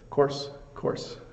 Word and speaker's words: coarse: So coarse, pronounced exactly the same way.